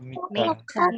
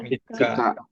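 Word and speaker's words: みっか: Tanggal 1 itu Tsuitachi, tanggal 2 Futsuka, tanggal 3 Mika. Mika.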